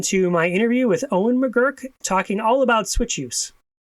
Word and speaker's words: McGirr: of talking to Owen mcgurk right Owen did I say it right now mcer no T at the end Owen mcer got it Owen